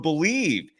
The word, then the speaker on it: Bleav: Head to Bet Online today, and don't forget to use the promo code BELIEVE. It's the name of the network that we're on. It's spelled uniquely, BLEAV, and that is the